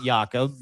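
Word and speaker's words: Jakob: Jacob Yakob is how you say his name in Denmark.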